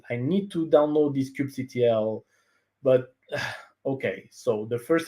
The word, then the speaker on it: kubectl: So I pronounce it kubectl. That's a choice. Don't fight me.